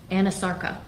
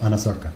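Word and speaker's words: anasarca: a condition known as anosarka? If I'm not mispronouncing it. No, you're pronouncing correctly. She did have a condition called anosarka.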